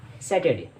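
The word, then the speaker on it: Saturday: शनिवार को कहते हैं सैटरडे। ज़्यादातर बच्चे इसको सैटरडे पढ़ते हैं। इसकी राइट प्रोनाउंसिएशन है सैटरडे। जी हाँ, सैटरडे। इसमें आर साइलेंट होता है।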